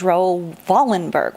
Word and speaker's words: Raoul Wallenberg: Wallenberg and he's actually the way he pronounced his name was rovolon Burke with a V but he was from